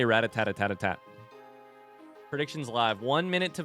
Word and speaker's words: Rattata: What about Rattata? Rattata. Yeah, I don't know. That one's confusing. I say ratat.